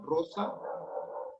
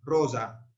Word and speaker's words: rosa: S, sorda, S, sa, rosa. Y en la pronunciación italianizante, medievalista, digamos, la intervocálica, cuando es una sola, la van a pronunciar sonora, rosa, rosa.